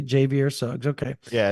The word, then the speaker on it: Javier: Yeah, I'm gonna refrain from butchering it and let you say Javier Suggs. Okay. Yeah, it's Javier. Like if you pronounced Javier phonetically, Javier. Yeah.